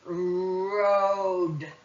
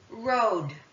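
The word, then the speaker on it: rode: So the E is silent. That means it doesn't say its name, doesn't say anything. But the O now will say its name, which is O.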